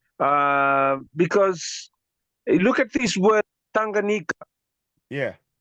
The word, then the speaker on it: Tanganyika: Because look at this word Tanganyika. Yeah. We pronounce TA as ta. We pronounce QA as nga. So I don't know how far that is pronounced.